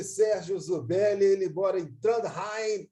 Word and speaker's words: Trondheim: Ele mora em Trondheim, é assim que se pronuncia, né? Como é que repete, César Mackenzie? Fala aí. Trondheim, na Noruega. Puxa no R.